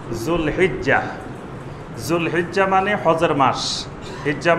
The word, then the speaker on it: জুলহিজ্জাহ: আমাদের দেশে বাংলায় লেখা হয় জিলকদ, জিলহজ, এইভাবে লেখা হয়, কিন্তু এটার সঠিক উচ্চারণ হবে জুলকাদা, জুলহিজ্জাহ।